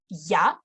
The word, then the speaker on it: я: So by itself, this letter is pronounced ya, and it makes the previous syllable soft.